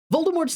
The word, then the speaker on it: Voldemort: Voldemort's name has a special meaning. Number one, it was originally supposed to be pronounced Voldemort. You do not pronounce the T because it is a French name, but it is also